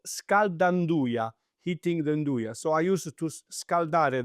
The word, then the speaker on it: nduja: Calabria è anche nduja, salami spread, è about rosa marina, But to cut you off, can you repronounce that again? nduja. Okay, everyone goes Nduja, No, Nduja.